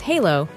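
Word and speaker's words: halló: Hello in Iceland pronounces halo, thank you is tak, or goodbye is bless.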